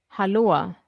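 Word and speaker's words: hallå: Halloa.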